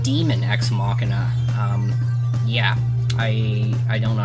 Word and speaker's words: Daemon X Machina: Actually, I think it's pronounced Demon X Machina.